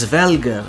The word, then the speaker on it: Hræsvelgr: atop another large bird, the eagle-like Hræsvelgr (pronounced as hres-vel-gr) which could potentially be the inspiration here as well.